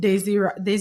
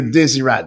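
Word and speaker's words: Désirade: We tried to get communications with the individuals from Guadeloupe and Desiree, that's how you pronounce it? Well, Desirad, yes.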